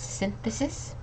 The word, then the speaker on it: synthesis: okay so uh it's synthesis so this Y is more of like an I sound so it's synthesis synthesis